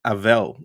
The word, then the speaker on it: Avel: really loved chronicles of avel or chronicles of a vel depends on which syllable you put the emphasis on but it's a family